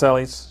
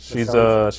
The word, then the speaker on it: Bacelis: You don't remember specifically Miss Officer Bacelis, is that how her name's pronounced? Baselis, Baselis. she's Lozano now.